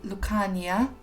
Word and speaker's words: Lucania: a basically made up name it should be pronounced lucania and yeah we'll be starting in tartosa this